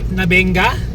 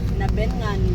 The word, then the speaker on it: Nabengan: Nabenga. Nabengan. Nabengan. Na nabengan pala pagpronounce.